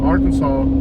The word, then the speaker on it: Arkansas: a natural little waterfall i think they should just change the s at the end of arkansas to a w that way people can say it right you know mexico used